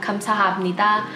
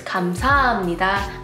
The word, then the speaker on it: 감사합니다: It's just a really hard sound to pronounce because it's a glottal sound, so it tends to be weakened in words like 감사합니다.